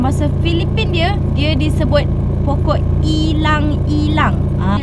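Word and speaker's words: ylang-ylang: Kalau dalam bahasa Filipin dia disebut pokok ilang-ilang. Ejaan dia Y-L-A-N-G lang. Kalau dalam bahasa Melayu kita, itulah ilang-ilang, macam tu sebutan dia tau.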